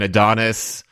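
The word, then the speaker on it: ADONXS: Fine, Adonis. But there's like an X where the I is supposed to be because, you know, SEO.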